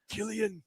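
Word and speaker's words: Cillian: I never know how to pronounce Killian Murphy looking up and he sees that airplane Killian.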